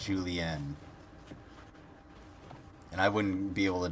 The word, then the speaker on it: julienne: julienne, and it's with an E, not an A. It's julienne.